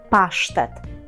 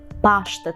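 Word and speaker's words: pasztet: правда це паштет тільки Зверніть увагу на наголос Ми кажемо паштет паштет по-порску але це слово також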